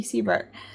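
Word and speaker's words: Siebert: b e r t Sebert and the way that Suki remembers it is cuz it sounds like see you B like I'll see you B um that's really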